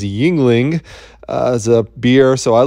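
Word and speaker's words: Yuengling: have a choice because the proper pronunciation of this one is yingling as a beer so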